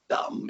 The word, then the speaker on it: Notre Dame: And so I did that with Notre Dame, or Dame, if it's going to be French pronunciation.